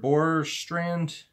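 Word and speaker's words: Bjorkstrand: Oliver Borstrand. I believe the J is silent.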